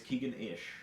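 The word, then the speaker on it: Keaganish: what's your Instagram is it Keegan it's keegan-ish what yep how do you say that keegan-ish how do you spell that spell my first name k-e-a-g-a-m-i-s-h okay I'll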